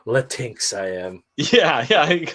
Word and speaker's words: Latinx: nobody knows how to say it oh it's latinx which just sounds like spanish porno welcome